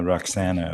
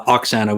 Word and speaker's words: Oxana: of fun so that's roxanna of course did i say her name correctly uh oxana with an o roxanna uh sorry yeah